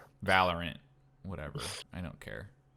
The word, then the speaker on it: Valorant: i haven't played it don't don't call it valorian valorant whatever i don't care it's supposed that's how